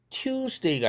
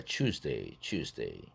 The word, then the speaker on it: Tuesday: A번 to가 to로 국외음화음으로 바뀌어서 발음되는 현상입니다. opportunity가 아니라 opportunity. 화요일 Tuesday가 아니라 Tuesday.